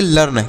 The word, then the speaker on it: learn: यन से न तो इसे लिर्ण पढ़ेंगे बिल्कुल नहीं ये गलत होगा इसे लिर्ण नहीं पढ़ना है तो फिर इसे क्या पढ़ेंगे तो यल से पढ़ेंगे ल इ ए का उच्चारण नहीं करेंगे आर से र यन से न तो इसे पढ़ेंगे लर्न क्या पढ़ेंगे प्यारे साथियों इसे लर्न पढ़ेंगे लिर्ण नहीं तो लर्न मतलब क्या